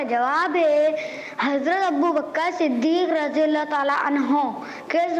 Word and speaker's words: صدیق: یہ صدیق ہے. کیا ہے؟ صدیق ہے. تو تلفظ کا بھی پیارے بچوں آپ لوگ خیال رکھا کریں.